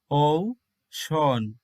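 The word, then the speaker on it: ocean: এমন করে হবে ঔষন তাহলে ভালো করে দেখো এখানে কিন্তু সি এর উচ্চারণ হচ্ছে স এন এর উচ্চারণ হচ্ছে ন তাহলে মাঝখানে যে রয়েছে ই তার উচ্চারণ হচ্ছে অ ইংরেজিতে যাকে বলা হয় সোয়া সাউন্ড হালকা স্বরে অই সাউন্ডটি এরপরের ওয়ার্ডটি দেখো হার্ট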